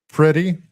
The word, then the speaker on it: Pretti: It's pronounced pretty.